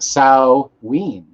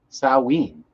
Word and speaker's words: Samhain: know the actual origins it's pronounced sao ween sawween sao ween samhain saowin nick i had cbd